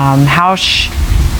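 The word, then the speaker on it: Haux: And Hausch is a South American indigenous term that's meant to kind of mean like amen, or I agree, or in harmony.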